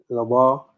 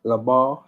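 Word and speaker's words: לבב: So it would be pronounced Labar, Labar, Labar.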